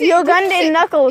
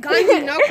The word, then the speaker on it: Ugandan Knuckles: Bro, that's not even how you say it. It's Ugandan Knuckles. It's Ugandan Knuckles. You said Gandhi Knuckles.